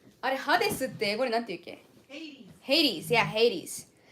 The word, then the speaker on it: Hades: Hades, yeah, Hades. We pronounce it so differently in Japanese. Hades is Hades in Japanese, so I can never remember the correct way to pronounce it in English, but...